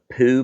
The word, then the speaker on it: pool: And then Sunday, we've got a poo party. Poo. That's how you pronounce pool in South Georgia.